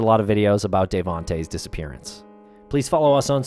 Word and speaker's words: Davohnte: The way you pronounce his name is Devonte.